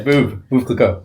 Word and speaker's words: Veuve Clicquot: Yeah, Veuve Clicquot. Yeah, it's good. That's how it's pronounced?